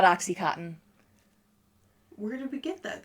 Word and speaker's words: OxyContin: It's not. It's Oxycontin. Get out. It's Oxycontin. Oh, it's not cotton? It's not Oxycontin.